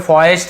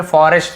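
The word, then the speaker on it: forest: ठीक है यहां पे फॉरेस्ट ऐसे नहीं पढ़ देंगे यहां पे फॉरेस्ट र आपको पढ़ना है फॉरेस्ट यानी जंगल अब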